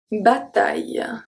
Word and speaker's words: bataille: Pronounced exactly the same as A-I-L, because we don't pronounce the E. We don't say A-I-E, A-I-E. Okay, don't say that. So let's see three. We have une bataille.